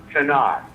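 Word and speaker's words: Tannat: okay so they used a great varietal called tanat it's spelled ta n n a t do you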